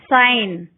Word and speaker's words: sign: G is not pronounced when it comes before N. Sign, foreign.